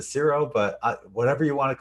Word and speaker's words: Ciro: here with Ciro, aka Cairo, Marchetti. I think Cairo sounds better. I than know, Ciro. but I just saw an interview on him, and they pronounce it Ciro, but whatever you want